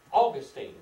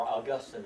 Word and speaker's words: Augustine: Augustine, or Augustine as some people like to pronounce his name.